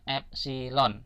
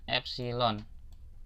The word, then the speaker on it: epsilon: E ini bacanya bacanya epsilon ya. Ini tuh bacanya epsilon. Ini huruf Yunani ya.